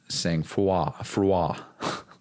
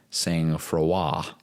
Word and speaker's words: sang-froid: But it's pronounced sang-froid. And it means to be calm under pressure. It's a French word. And knowing that it's a French word helped me understand why the fuck it was pronounced sang-froid.